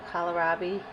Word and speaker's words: kohlrabi: This one over here is also kohlrabi.